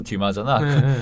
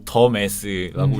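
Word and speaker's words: Dumas: 그리고 또 웃긴 장면이라면 그 도서 분류를 할 때 몽테크리스토 백작을 작가가 알렉산드로 듀마잖아. 그거를 제대로 몰라가지고 더 메스라고 읽는 것도 웃기고.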